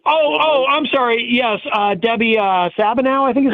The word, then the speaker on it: Stabenow: Yes, Debbie Stabenow, I think is how you say it. Yeah. Oh, Stabenow.